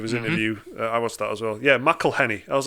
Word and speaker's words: McElhenney: up yeah that's a that's definitely bonus it's McElhenney did you watch him did you watch him on like a awesome on Stephen Colbert yeah there's like a YouTube video of his interview as well yeah McElhenney I was like it's been pretty quiet week